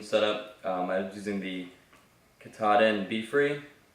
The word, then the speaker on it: Katadyn: I was using the Katahdin Be Free. I think that's how you say it. One guy said Katadyn on the trail, and it totally threw me off because I have always heard Katahdin.